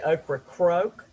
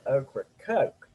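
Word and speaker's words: Ocracoke: john i've got to tell you you're from the eastern shore so you say okra croak but here in north carolina we say okra coke so it's just a little different in pronunciation for those linguists among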